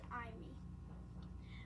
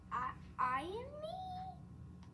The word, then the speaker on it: ami: The word is ami. My mom says, you say it like this. I am me?